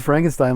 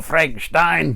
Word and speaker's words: Frankenstein: So now he pronounces Frankenstein like Peter Cushing does. Okay. Frankenstein. Yeah. Let me go, Frankenstein.